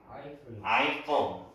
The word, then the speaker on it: Eiffel: 자, 이게 발음이 eyeful이에요. Eiffel.